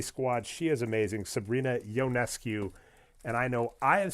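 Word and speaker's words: Ionescu: go to Sabrina Sabrina it's yonescu yonescu and I bring this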